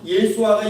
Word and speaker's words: 예수아: 우리나라 발음을 하니까 예수라고 얘기하는데 우리는 예수아가 히브리식으로 맞아요.